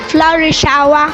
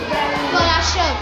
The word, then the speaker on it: Flora Shaw: still getting theirs right because they could not pronounce the names in their given questions properly which woman gave Nigeria her name? Flori shawa Flora Shaw, say it again, Flora Shaw, thank you it